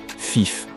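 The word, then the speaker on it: fife: un code ultra secret c'est juste la façon dont les pilotes prononcent certains nombr dans leur anglais de pilote three signifie 3 FIF 5 et ner est utilisé à la place de 9 cette prononciation vise à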